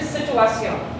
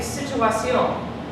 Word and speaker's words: situación: Or did she say situación? Situación. The emphasis is right there. Does that make sense? So is that the penultimate syllable or the last syllable?